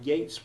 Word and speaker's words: Yeats: But please don't ask me why Yeats rhymes with greats while Keats rhymes with eats, because I haven't the faintest idea.